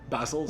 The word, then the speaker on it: Bassols: right welcome to the show i have basil is my pronouncing that correctly basil's yes oh great now i i hear a